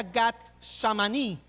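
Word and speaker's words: Gat Shmanim: El Getsemaní proviene el nombre de una palabra en arameo que se pronuncia Gat Shamaní, que significa prensa de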